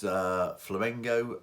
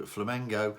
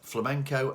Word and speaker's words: Flamengo: So, before we go any further, I'm sure you'll enjoy the mispronunciation because so far I have referred to Flamengo as both flamenco and flamingo.